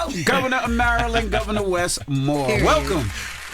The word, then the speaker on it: Maryland: When we come back, we have the governor of Maryland. Did I say that right? Merlin, you said it right.